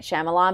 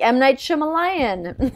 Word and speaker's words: Shyamalan: his word was might Shyamalan, but he like didn't know how to say his name. And he's like, "Might Shima." He just kept saying it wrong.